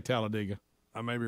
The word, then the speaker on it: Talladega: calls it talladega yeah d.i.g halladega well the locals say talladega yeah greg you're you're this you're kind of i'm a talladega talladega i say talladega i may be wrong like big d.i.g yeah